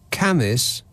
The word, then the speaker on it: Cambois: Jed texts, I grew up near Cambois and Oldham. That is Cambois and Ulgham. And they're pronounced Camis and Upham.